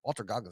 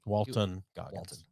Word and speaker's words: Walton Goggins: Yeah, Walter Goggins is amazing. Walton Goggins. Walter. I don't give a shit. I pronounce more like celebrity names incorrectly I on know here than you do.